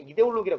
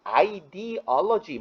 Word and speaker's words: 이데올로기: 이데올로기죠. 뭐 이게 독일어기 때문에 이데올로기라고 읽는 게 맞고요. 미국 놈들은 지네 맘대로 읽기 때문에 ideology 뭐 이렇게 읽습니다.